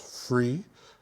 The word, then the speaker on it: fri: love right right so in Danish the word free f r i pronounced free means um a proposal